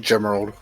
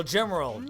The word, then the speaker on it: Gemerald: It's pronounced like Gemerald. Or Gemerald. Oh, Gemerald. Gotcha. Yeah, kind of like Emerald, but just gem.